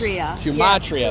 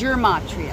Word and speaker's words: Gematria: Gematria. That's what it was. Gematria.